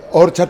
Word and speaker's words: Orchard: Orchard, pero con acento en la primera. Sí, leva, no en la segunda.